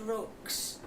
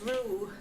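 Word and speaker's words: roux: made it and I I said rocks. So I thought I will find out exactly what it is pronounced and it says ru that that rhymes with moo.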